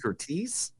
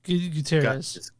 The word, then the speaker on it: Gutierrez: Brantley Curtiz. How do you spell it? Cortez. It's almost like Guerrero. It's Gutierrez. Gutierrez.